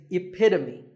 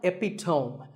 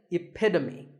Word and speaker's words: epitome: This word means a perfect example of something, And the perfect pronunciation of that is epitome. It's not epitome. Once again, epitome.